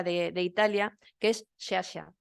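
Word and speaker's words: Sciascia: de Italia que es shasha se lee así se escribe escia HM pero se dice shasha Entonces era un hombre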